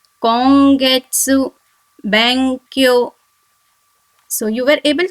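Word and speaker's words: 今月: The third example is kongetsu, kongetsu, which means this month. The fourth example is Bankyo, Bankyo, which means study. I'll pronounce the alphabet words once again. Tanki, Ongaku, Kongetsu, Bankyo.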